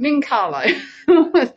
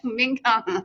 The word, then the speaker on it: Mincarlo: How do you pronounce it? Mincarlo. Mincarlo.